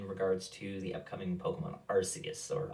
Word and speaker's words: Arceus: his channel in regards to the upcoming pokemon arceus or archaius depending on how you want to pronounce it i'm going to go with archaeous because it's kind of the official title it's